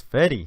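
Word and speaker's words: Fede Álvarez: only well reviewed, I guess, how do you pronounce his name? Fede Alverez or Fede Alverez? I think it's Fede.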